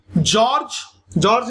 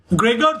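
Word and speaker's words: Gregor: किस प्रकार से बोलना गलत होगा, किस प्रकार से जॉर्ज नहीं बोलेंगे, ग्रेगर बोलते हैं शायद, pronunciation should be like ग्रेगर John Mendel जो है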